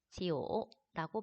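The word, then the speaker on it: 九: 9의 발음이 지오라고 발음을 하는데, 이 지우가 오래되다 구자랑 발음이 똑같기 때문에 무언가 굉장히 오래되다, 지속되다 라는 표현으로 좋아한다고 했죠.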